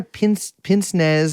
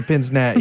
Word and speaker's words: pince-nez: I put my pince-nez on.